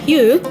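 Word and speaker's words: 鱼: In the Chinese language, fish is pronounced yu, meaning surplus and fortune.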